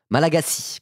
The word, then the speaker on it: Malagasy: Malagasy, pardon. On me le redire 3 fois, j'avais 2 erreurs dans la prononciation. Malagasy, ok.